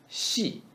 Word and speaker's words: 细: 细心 xi. We say she with flat tongue.